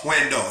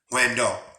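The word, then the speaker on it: Hwendo: But Huando, it's spelled H-W-E, and the E is open, Huando, H-W-E-N-D-O.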